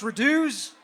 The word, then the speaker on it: Radux: It's pronounced Reduce.